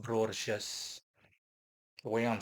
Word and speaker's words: Brorges: It's pronounced Borches.